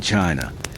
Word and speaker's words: qi: In ancient China, health was never just about flesh and bone. It was about energy. The invisible vital force called qi, pronounced chi, flowed through every living being.